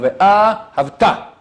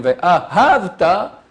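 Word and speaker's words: וְאָהַבְתָּ: L'accent, il y a 3 syllabes. Ahavta. On met l'accent sur la première et la 3e syllabe. Ve'ahavta. Ça, c'est bon. Tu aimeras. Celui qui fait il met l'accent sur la 2e. Ve'ahavta. Tu as aimé. Ça change tout. Sur quel accent? Premier, troisième.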